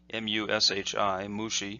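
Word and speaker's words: 虫: that this character is pronounced by itself is pronounced mu XI mu Shi mushi Anna means bug or insect and so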